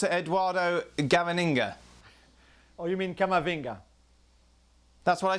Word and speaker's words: Camavinga: us more about eduardo inga oh you mean kamavinga that's what i said kevin yes that's what